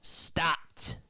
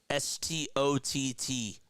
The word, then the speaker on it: Stott: How do you say Bryson's last name? Stott. S-T-O-T-T.